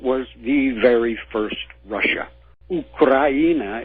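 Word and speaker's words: Украина: Ukraina is how it's pronounced in Russian.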